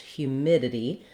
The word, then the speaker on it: humidity: In the word humidity, we have second syllable stress.